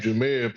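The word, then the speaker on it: Jahmyr: name jir but he he pronounced it how Jamar it's pronounced jir pronounced it's jir jir it's jir but he spell it Jamar and like James from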